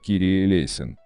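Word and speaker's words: Κύριε ἐλέησον: сочинили знаменитую песню 496 молитва Господи помилуй на греческом языке произносится как Кири элейн ранее все богослужения проходили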